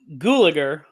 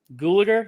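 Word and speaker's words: Gulager: to butcher the name clue gulliger google it sounds like gallagher but it's spelled differently but it's yeah yeah gulliger yeah anyway he played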